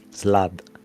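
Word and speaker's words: slaad: something you heard over called illithat illithland s-l-a-a-d slad it's very hard to pronounce though is it like a uh yeah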